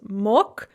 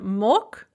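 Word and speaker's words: мог: much becomes ana magla so note that on mok the girl is pronounced like a ka because of word final d voicing but we add the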